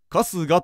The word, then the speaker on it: 春日: 文字ぞ現れたる春の日と書いては春日と読めば法相応募の俊一